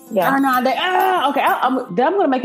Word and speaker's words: Irnande: Irnande, I did it right? Did I do it right? Irnande, yeah. Irnande, okay.